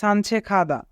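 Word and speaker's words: 산책하다: যদি গিয়ক বাচ্চিমের পরে হিউত থাকে তবে গিয়কের উচ্চারণ খ হয়, তাই এখানে উচ্চারণ হবে সানছেখাদা।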